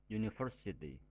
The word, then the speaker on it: university: nya bersuara konsonan University jika diucapkan maka bunyinya University bukan University walaupun kata University diawali dengan vokal u tetapi dalam pengucapannya diawali dengan suara konsonan y Oleh karena itu artikel